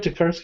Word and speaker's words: Tokarski: want to do that, Tokarski. Did I say that right, Tokarski? Yeah. Oh, look at that. I said it right. Wow. Look at that. Oh, no, okay. It's like Koharski with a K.